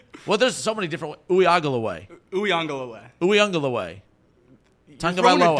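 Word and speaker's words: Uiagalelei: I don't think one of those syllables was right. He got the end. He got the end right. Well, there's so many different Uiagalaway.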